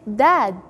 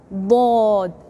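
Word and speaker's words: ض: Then, bod, is strong harf. Bod, with the tongue have to touch the teeth up, but don't say dad. No, it's bod.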